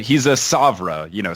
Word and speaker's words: PSOVRA: So he's a Savra, silent P like pterodactyl.